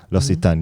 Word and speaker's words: L'Occitane: I mess with L'Occitane. L'Occitane, yeah.